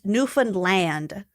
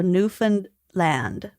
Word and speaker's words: Newfoundland: on this before but almost everyone pronounces Newland wrong oh great so there's supposed to be a slight guttural stop between New Found and land with the later f with the latter pronounced as if it were like isolated so L Nan Newan